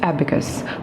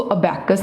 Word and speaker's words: abacus: What is एबेकस। First of ऑल इसको pronounce कैसे करना है। इसको प्रोनाउंस करना है आपने एबेकस, ABACUS, एबेकस। एबेकस, इसको अबैकस नहीं बोलना, इट्स अ एबेकस।